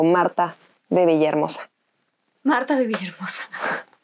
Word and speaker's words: Martha: villahermosa marta vivir cosas aunque los gringos de repente me dicen marzo y hay otros que cuando yo les digo no es que sin la h bueno mi nombre llevará che pero siquiera pronuncien se dice en mora